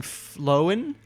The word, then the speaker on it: flown: What, am I saying that weird? Flown. There you go, like a phone. Imagine at the age of 22 getting. I'm about to say it wrong. Flown. Yeah, I think flown. Like phone.